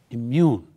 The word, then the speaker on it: immune: the red and immune when you say the word immune you stress immune this this the second part so you say immune immune right and as an